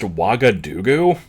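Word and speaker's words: Ouagadougou: So Lockhart mentions it's pronounced Wagadugu, but it's spelled fucking terribly.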